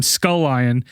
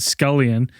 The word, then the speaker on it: Scullion: And my favorite thing is, you know, shame on us. We've been saying your name incorrectly. It's Tim Scullion, and we've been pronouncing it Scullion.